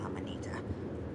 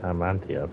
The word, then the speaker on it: Amanita: Or was it fire salts and fly amanita? I can never remember exactly. Is that how you pronounce that? I've always called it Amantia for some reason. Amanita.